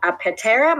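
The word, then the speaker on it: Aptera: Tesla you might just fall in love with a petera Motors a pte re Motors okay so this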